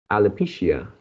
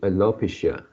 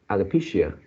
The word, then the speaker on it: alopecia: you change it into alopecia, something like that. So the stress is on the third word, the third syllable. Alopecia, No, it's on the third, so it's alopecia.